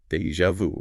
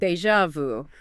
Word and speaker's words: déjà vu: But pronounce it déjà vu. Déjà vu.